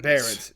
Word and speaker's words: Barrens: How do you pronounce your last name? Barrens.